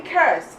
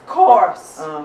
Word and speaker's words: course: Josh, don't say curse, it's course. Curse means something different.